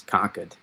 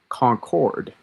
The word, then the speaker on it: Concord: Yeah, because up here um it's uh it's conquered. That that's how you say it because we have a new we have a con mass and we have con New Hampshire. Um that's how that's that's how we uh that's how we say it in real you could say it's a concord. Um, you were maybe British. Concord. Concord. Uh, but here in mass we, uh, we leave off syllables, especially ars.